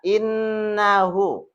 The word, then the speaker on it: innahu: Nah, innahu bacaannya innahu. Di sini disebut dengan hukum bacaannya gunah. Nun yang bersyiddah. Nun yang ber tasdid. Nah, hukum bacaannya ditekankan. Cara baca ditekankan, ditahan lama. Innahu seolah-olah dua ketukan cukup.